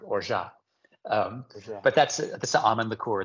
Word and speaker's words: orgeat: or orgeat, which is people say orgat or orgeat. It's the orgeat. I said it wrong forever, and I probably still am saying it wrong. It's French. It's like orgeat.